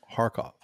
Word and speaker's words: Kharkov: have is Kharkov pronounced harkov and uh Manor Mike said it's a heartache so it's guttural so it's like that